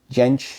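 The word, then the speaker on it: Jansch: He mentioned his guy pronunciation. He pronounced Gench, so I could pronounce Gench. I think originally the family came from Germany while back ago, so probably you have to say Gench.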